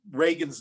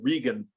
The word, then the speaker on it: Reagan: You berated her for pronouncing Ronald Reagan's name wrong, because she said Regan, and he yelled out from the audience, "It's Reagan. Who says Regan?"